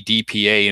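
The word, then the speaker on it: AEDPA: penalty Act it's a edpa and normally just pronounced EDP and that the the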